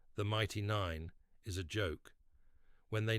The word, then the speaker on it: Nein: But Caleb, whose accent makes his pronunciation unclear, says it as Nein, the German word for no.